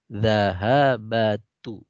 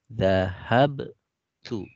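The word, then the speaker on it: ذهبتُ: Nah, ini banyak sekali peserta yang membacanya zahabatu, ya, ya keliru ya. Yang benar adalah zahabtu. Ya. Jadi ini zahabtu bukan zahabatu.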